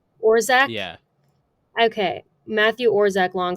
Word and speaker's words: Orzech: And then another name that I will mispronounce, Matthew Orzechek. I think it's Orzech. Orzech?